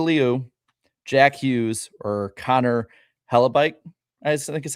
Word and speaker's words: Hellebuyck: Alyssa Liu, Jack Hughes, or Connor Hellebuyck, I think is how you say his name.